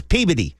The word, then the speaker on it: Peabody: Peabody or no see you gotta know how to pronounce it like a masshole it's it's Peabody NHL Scout say he's